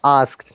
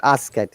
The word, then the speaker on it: asked: yes better than before asked not ask it not even ask it remember sometimes people said ask it no it is one syllable word asked help asked very